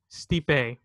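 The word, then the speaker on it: Stipe: how you say his name steeped a Miocic steep a okay steep a versus Francis and the up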